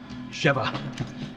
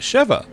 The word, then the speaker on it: Sheva: See, that's how Chris pronounces it, Sheva, which is how I've been pronouncing it for most of the game, and then we had another couple of characters pronouncing it differently.